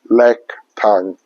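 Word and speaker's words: แลกตังค์: ั ง ค ์ Lak tang. Yes. Lack. L-A-K, lack. Yes. Lack, I say right? Yeah. Lack, okay? L-A-K, lack. Tang, T-A-N-G, tang. Yes. All right, so do I say it right? Lack tang. Yeah. Okay, so lack tang, that's how we say exchange money in speaking Thai language.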